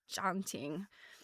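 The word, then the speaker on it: tjanting: And I'm I don't know if that's the right pronunciation, but this little thing is called it's spelled tj a n t i n g. A janting.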